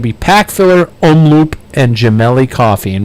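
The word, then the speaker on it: Gemelli: pack filler omloop and jamell coffee and when I say jamell I'm going to spell it out for you because I know it sounds weird g e m e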